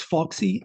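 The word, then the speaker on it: FAUSEC: and our organization which if you like to pronounce acronyms it's Foxy F AU SEC.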